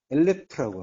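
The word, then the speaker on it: אלף: 엘레프라고 합니다.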